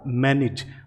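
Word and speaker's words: manage: तो इस AGE ending को प्रोनाउंस किया जाता है इज, इसे बोला जाता है इज। तो इस तरह से अगर ये वर्ड आप देखते हैं तो इसे बोला जाएगा मैनेज, और आप इसके ट्रांसक्रिप्शन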